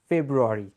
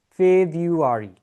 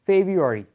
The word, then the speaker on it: February: But in English, we don't say February. The right pronunciation of this word will be February. February. All right? It's February. February, not February.